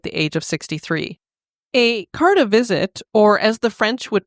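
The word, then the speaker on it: carte de visite: in 1903 at the age of 63 a card a visit or as the French would pronounce it will you do that Kelly you did it better than me c de visit there you go do you know what that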